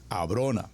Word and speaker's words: Abrona: Abrona. Atención con la pronunciación, Abrona.